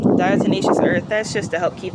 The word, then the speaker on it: diatomaceous earth: that why stuff is dial tenacious earth i hope i pronounced that right i learned i was pronouncing it wrong for like a year or two diatomaceous earth that's just to help